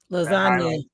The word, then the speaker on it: lasagna: Lasagna. I spelled it wrong. Hold on. Lasagna. What word is silent? The G.